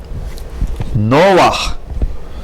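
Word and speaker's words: נֹחַ: Again, two rules are used. An accent on the first syllable instead of last, and under het at the end of the word, we read the vowel first and then consonant.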